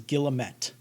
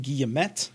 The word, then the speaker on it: guillemet: end of the quote i will be pronouncing it guillemet because i can't stop myself from doing that and it would be distracting if i did because of my french training i want my brain wants to pronounce all french words in the french way but i'm most often